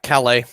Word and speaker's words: Calais: The Calais? I forget how you say it. Yeah, Calais.